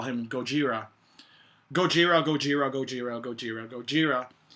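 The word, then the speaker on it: ゴジラ: Americans that they're not even gonna try to pronounce the right name. What's it called? Gojira?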